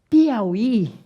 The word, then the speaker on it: Piauí: telina você assentou o Piauí porque Piauí é uma oxítona a sílaba tônica é a última por isso que ele